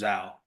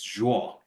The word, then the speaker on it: Zhuo: Um all my friends here uh in the states will pronounce my last name name as zho like just exactly you pronounce it but but in Mandarin it's draw. So it's similar to like draw a picture draw.